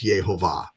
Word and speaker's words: Yehovah: Hebrew manuscripts, you will see the pronunciation clearly with the vowel pointers and everything as Yehovah.